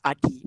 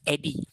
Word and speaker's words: Adi: My name is Adi, ADI. It's very simple. Okay, some like Chinese, some pronounce it as Eddie, okay, somehow, but it's still okay correctly okay pronounced.